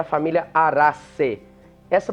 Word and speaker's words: Araceae: Então, a gente tem que pronunciar esse C-A-E, como o A-E tem som de E. É isso mesmo. Então, a gente pode dar uma esticadinha nesse E final, Araceae.